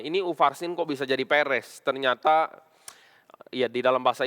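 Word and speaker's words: Peres: di sini adalah ufarsin ini PRS jadi bacanya Perez ya ya ini di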